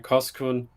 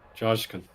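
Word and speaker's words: Coşkun: Pete is adamant to make sure I get the pronunciation right. Koskun. So I'll make sure to get it right. Joshkun. Okay, I'll keep trying. I'll keep trying. So it's Joshkun.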